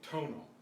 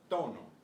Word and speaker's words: tono: So, this word with the habits of speaking English, we would say tonal, tonal. But it's tono, tono. There's no puff of air with the T.